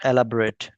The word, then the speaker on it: elaborate: The pronunciation of elaborate changes to एलाबोरेट, एलाबोरेट, एलाबोरेट। रेट होता है ना, वही लगा सकते हैं, एलाबोरेट, एलाबोरेट, ठीक है?